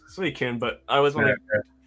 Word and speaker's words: Suicune: I always want to say Suzy-kun for some, because when I was a kid, I always struggled with pronouncing the name. It just stuck. But now I know as an adult, it's Suicune.